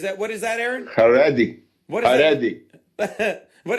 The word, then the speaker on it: Haredi: Haredi. What is Haredi. that? What does that mean? Haredi.